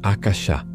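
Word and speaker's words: आकाश: Ele tem suas raízes na antiga e sagrada língua sânscrita, derivando da palavra axa, que se pronuncia algo como achá.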